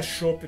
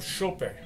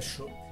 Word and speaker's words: Schoppen: A pronúncia não é chopp não, é tipo chopper, é uma caneca de 500ml, entendeu?